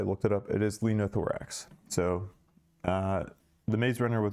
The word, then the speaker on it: linothorax: It is Lenothorax.